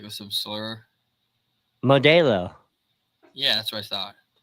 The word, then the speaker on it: Modelo: The E is an A, the E is pronounced like an A in Spanish.